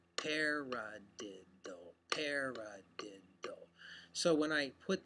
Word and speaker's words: paradiddle: So a paradiddle is a peculiar sounding word, but it's got 4 syllables. Paradiddle, paradiddle.